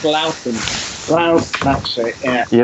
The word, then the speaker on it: Loughton: It's pronounced rather differently from Leighton. It's Loughton.